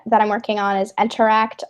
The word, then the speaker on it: nteract: working on you mentioned that you're working on interact right now mm-hmm so its main one that I'm working on is interact it's spelled NT er a CT we're on github